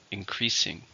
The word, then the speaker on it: increasing: 3 syllables, stress in the second, increasing.